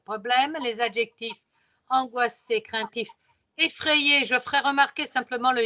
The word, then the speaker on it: effrayé: Effrayé, le Y, c'est comme si j'avais deux I. Un premier I qui se prononce avec A et l'autre I qui se prononce avec le E, qui fait effrayé.